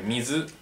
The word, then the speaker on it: 水: Y ya sabes cómo se pronuncia seguramente. Mizu, mizu es agua.